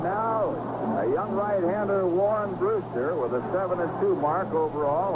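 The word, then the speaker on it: Brusstar: Warren Brewster, and he spells his name B-R-U-S-S-T-A-R, but pronounces it as it were spelled phonetically Brewster, and there's a good story behind that.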